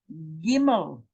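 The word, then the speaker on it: גימל: This is Gimel.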